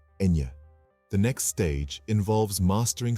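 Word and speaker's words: ñ: And in the midst of this exploration, don't forget the unique N, pronounced Enye.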